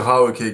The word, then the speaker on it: Raoke: The Raoke Gang. It's me like karaoke, but you might pronounce it differently because obviously I pronounce it the French way, but it's like karaoke without the car, really.